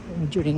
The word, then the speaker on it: bonjour: Bonjourin ko mukha niya eh. Bonjour. Bonjour. Hindi pa pronounce ang R.